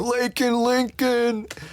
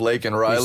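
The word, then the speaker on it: Laken Riley: Biden yeah ends up saying her her name wrong he ends up saying lak Lincoln instead of lak Riley said Lincoln Lincoln no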